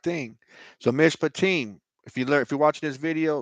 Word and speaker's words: Mishpatim: Mishpatim, what I wrote there in the comment section, Mishpatim, that's how you pronounce it. That's how you enunciate it.